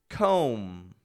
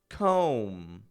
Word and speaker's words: comb: spelled t h u m b i don't pronounce that B that b does not come out thumb thumb another comb comb you know as in you comb your hair